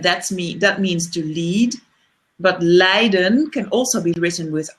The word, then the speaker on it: leiden: But leiden can also be written with IJ, and then it means to suffer. Ooh, that's good. So in Dutch, the pronunciation of leading and suffering is the same.